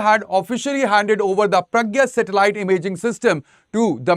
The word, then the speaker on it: Prajna: And in this session, we'll be talking about project Pragya. Yes, it is pronounced as Pragya.